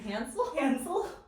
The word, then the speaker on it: Hansel: Hansel? That's how you say it. Hansel? Hansel and Gretel. That's how you say it in German.